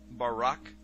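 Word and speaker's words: ברק: is by Barak so lightning or a flash of light in Hebrew is pronounced Barak or Barack now consider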